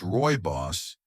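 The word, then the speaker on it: rooibos: Royos tea, often pronounced Roy Boss, is a naturally caffeine-free herbal tea that hails from South Africa.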